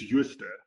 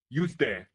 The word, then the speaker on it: Jooste: Today I'm speaking with Yust. That's how you pronounce it, isn't it? it's Yust. Yust.